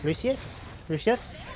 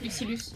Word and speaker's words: Lucilius: Okay, so we have Zeta versus Lucius, if I pronounced that right. Lucilius, yes.